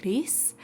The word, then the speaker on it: Gris: Castle Crashers, Franbo, and I believe it's pronounced Gris, because it's Spanish, I'm pretty sure.